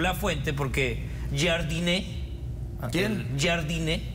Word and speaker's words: Jardine: Jardine, que así se pronuncia el técnico de Brasil, clases de pronunciación hoy